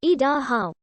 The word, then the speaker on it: Idaho: of three parts the first is e which in english conveys the idea of coming down the second is da which is the shoshong stem or root for both sun and mountain the third syllable how denotes the exclamation and stands for the same thing in shochong that the exclamation mark does in english the shoshone word is idaho and the indian thought